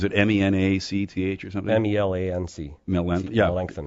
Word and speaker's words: Melancthon: Are you familiar with the Melancthon Quarry?